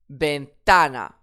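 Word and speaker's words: ventana: Bentana. Bentana. Effectivement, le mot se termine par une voyelle. Donc, j'accentue sur l'avant-dernière syllabe puisqu'il n'y a pas d'accent déjà.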